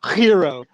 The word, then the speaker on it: gyro: Like gyro, me and you say it right. They're the ones that say it wrong, dog. Straight up. Well, you know, the way there's, I think the Greeks say it is they like do this spit thing at the beginning, like hero, hero.